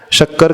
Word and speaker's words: शक्कर: जब शक्कर का उच्चारण करना है तो हमारी जीभ कहाँ टच करेगी? ऊपर तालु में टच करेगी, तो उसे कहा जाएगा तालव्य श।